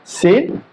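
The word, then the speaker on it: س: সিন, হরফটা পাতলা হবে এবং বাতাস জারি থাকবে। এটা হচ্ছে আবার হামসের হরফ। তো দেখেন সিন, এই যে সিন হরফ উচ্চারণ করার সময় আমরা খেয়াল করবো যে কোন জায়গা থেকে আমরা উচ্চারণ করতেছি। সিন, এটি আবার যেন সার মতো উচ্চারণ আমাদের না হয় খেয়াল রাখতে হবে।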